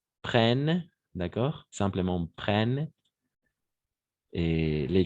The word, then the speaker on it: prennent: né prenne en europe on ne prononce pas ent à la fin jamais prennent d'accord simplement prennent et